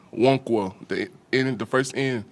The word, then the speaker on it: Nwankwo: start with a uh tutorial on how to pronounce your name it's wono the in the first in and my last